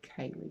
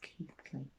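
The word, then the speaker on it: Keighley: jill that's keith lee you don't say kaylee it's keithley that's why i've never heard of it because you were saying it wrong so there we go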